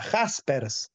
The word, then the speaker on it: Jaspers: Se escribe con J, Jaspers, se escribe así, Jaspers.